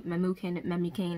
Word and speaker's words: Memucan: So she devised a plan and told it to Memucan, however you say his name.